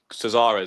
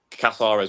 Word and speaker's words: Casares: But from what I remember seeing, because especially from York, Casares or Casares, whatever I saw, he looked promising today, to be honest. Casares, yes, he did. That's how you say it.